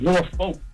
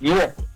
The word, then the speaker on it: Norfolk: Not only that, but you got to learn how to pronounce the cities around here. It ain't Norfolk, it's Norfolk.